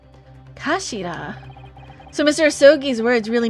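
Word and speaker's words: 頭: It's written as head in Japanese, but it's pronounced as Ashira, I believe. Kashira.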